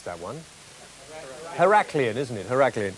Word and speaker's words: Heraklion: is it her al Cleon how do you pronounce that one Heraklion isn't in her a clean yes yeah alright